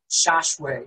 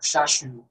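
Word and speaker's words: Shasu: According to Wikipedia, the Shashu, from the Egyptian, this pronounced Shashwe, or Shashu, were Semitic-speaking cattle nomads in Canaan from the late Bronze Age.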